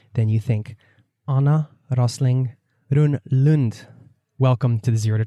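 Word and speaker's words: Rönnlund: Anna Rosling Run-Lund. Welcome to the Zero to Travel podcast, my friend. Thank you. You're the first one I've met who actually pronounced my name in a Swedish way, right?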